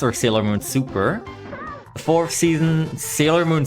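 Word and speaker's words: SuperS: Um, the third season being Sailor Moon S or Sailor Moon Super. The fourth season, Sailor Moon Super, like Super S, but it's not actually pronounced that way.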